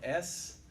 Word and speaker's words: Sidna: Sidney Myers, it's spelled S-I-D-N-A, and I said Sidna forever.